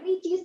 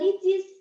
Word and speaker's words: Ricis: Perhatikan company logo, perhatikan produk icon, packaging design, brand, dan juga perhatikan pengucapan, misalkan seperti ricis ini nggak dibacanya R ricis, tapi dibacanya licis, karena R itu dibaca L di sini.